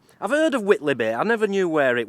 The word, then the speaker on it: Whitley Bay: Right, today we're at Whitley Bay. I've heard of Whitley Bay, I never knew where it was. I think that's how you say it, it's spelt like Whiteley, but I think it's Whitley Bay.